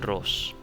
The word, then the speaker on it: Ros: it's cross you know the way it's spelled is the way it sounds so Michelle Ross said that's what we